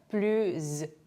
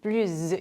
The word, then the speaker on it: plus: 블루 뒤에 모음 또는 무성 아시로 시작되는 단어가 왔을 때 이렇게 연음이 되는데요. 발음은 블루즈 블루즈 요런 식으로 이제 발음이 되는 거죠.